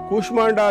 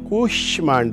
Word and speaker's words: ಕೂಷ್ಮಾಂಡ: ಈ ಮಾತು ಹೇಳಿದೆ ಅಂತಂದ್ರೆ ಕುಷ್ಮಾಂಡ ಅಲ್ಲ ಕರೆಕ್ಟಾಗಿ ಕೇಳಿಸಿಕೊಳ್ಳಿ ಅರ್ಥ ಬಹಳ ವ್ಯತ್ಯಾಸ ಬಂದುಬಿಡುತ್ತೆ ಕುಷ್ಮಾಂಡ ಅಲ್ಲ ಕುಷ್ಮಾಂಡ ಷ ಶ ಅಲ್ಲ ಷ ಬಹಳ ವ್ಯತ್ಯಾಸ ಇದೆ ಇದರಲ್ಲಿ ತಾಲವ್ಯಷ ಹಾಗಾಗಿ ಅದು ಉಚ್ಚಾರ ಬಹಳ ಮುಖ್ಯ ಕೂಶ್ಮಾಂಡ ಅಲ್ಲ ಕೂಷ್ಮಾಂಡ ದೇವಿ ಕುಷ್ಮಾಂಡ ಅನ್ನುವಂತದ್ದು ಒಂದು ಪ್ರೇತದ ಹೆಸರು